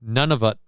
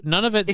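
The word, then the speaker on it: Nunavut: Uh and again, this is how it's spelled. N U N A V U T. None of it.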